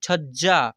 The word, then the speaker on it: छज्जा: पढ़ेंगे देखिए यहां पर छ और ज क्या लिखा हुआ छ ज और जा यानी छज्जा ऐसे फिर यहां पर र